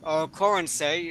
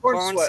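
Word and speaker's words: Corenswet: As everybody knows, the new Superman movie has been released, starring David Corensay. Am I pronouncing that correct? Is that the right way to Corn say sweat. that? Corn sweat.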